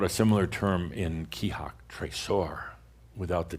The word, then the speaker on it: trésor: We've talked about a similar term in Kihak, trésor, without the T. Trésor is the French word for treasure. And trésort is a variation of trésor, but trésort with a T simply means no doubt, no doubt.